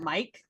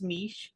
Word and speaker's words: Mech: did you pronounce that Mike I've not actually heard how it is pronounced please that's perfectly fine no it's perfectly fine that's the best way I've heard it pronounced it's pronounced Mech Mech okay terribly sorry about